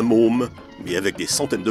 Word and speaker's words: Maugham: Non, Somerset Maugham n'écrivait pas spécialement des nouvelles pour dames, et d'ailleurs ça ne colle pas puisque son nom ne se prononce pas Maugham, mais Môme.